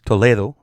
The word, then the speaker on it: Toledo: ] his last name is pronounced Toledo but did you notice Judson it's a little